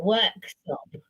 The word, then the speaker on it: Worksop: Nottinghamshire is Uh, called Worksop. And work she was stop. like, "What? Worksop?" And it's spelled how it sounds, Oh yeah. work and sop.